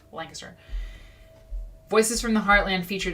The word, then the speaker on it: Lancaster: Sorry, Lancaster. It's pronounced Lancaster.